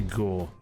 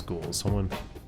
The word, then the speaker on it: ghoul: It's actually ghoul. I was corrected. I need to start pronouncing it right. It's not ghoul, it's ghoul.